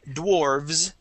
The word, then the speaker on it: dwarves: So it would be dwarf with an F, and then dwarves with a V and a voiced S.